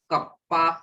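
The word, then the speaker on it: kappa: अच्छा, एक नोट डाल, क्या 1/ρ मतलब reciprocal of resistivity is known as कप्पा के, इसको कहते हैं कप्पा, ठीक है ना, इसका नाम होता है कंडक्टिविटी।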